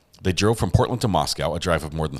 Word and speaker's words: Moscow: Moscow is pronounced Moscow not Moscow um my wife would probably tell me the same thing having spent a good portion of her life up in Idaho um I'll pronounce it Moscow from now on I'll try I really will